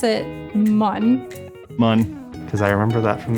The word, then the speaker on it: Mun: I pronounce it mun. Mun.